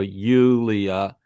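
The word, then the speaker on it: Iulia: So Yulia, right. so you pronounce the I as a separate sound in Yulia and the Ia Yeah.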